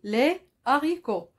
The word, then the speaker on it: haricots: autre exemple la ricoh les haricots au pluriel on dit les haricots il n'y a pas de liaison j'ai mis ici un creux rouge les haricots et on ne peut pas dire les haricots ça se dit pas alors là ce h ce h c'est un match aspiré il est aspiré il est un peu